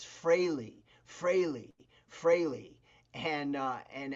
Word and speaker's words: Frehley: New Jersey, everybody I knew said Ace Freely. Yeah. Ace Freely. But I learned, you know, especially working on the record. Ace corrected me a couple times. He go, "Steve, make sure you say my name right. It's Freley." You know, and that's it. Ace Freley.